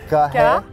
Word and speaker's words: Carrera: No, don't add an H in the middle. Carrera. Repeat after me. Re. No re. You know I'm not Spanish. Re. Re. You have to roll your. I'm horrible. Don't roll your R's.